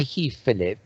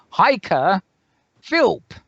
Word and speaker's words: Heike Philp: here I have I have corpus lady hi he Philip for in eternity and I have just been today told but the pronunciation is hiker Phil anyway I applied to work I'd like to